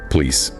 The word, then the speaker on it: police: The stress is on lice. So the co at the beginning becomes a weak schwa. Police police.